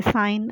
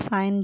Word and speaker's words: sign: आगे साइन, SIGN, साइन, जी साइलेंट है इसमें।